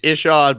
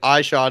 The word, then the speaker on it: Ishod: he was like yeah it's Ishod but I'm down like I shot is acceptable but he shot makes no sense so that's a great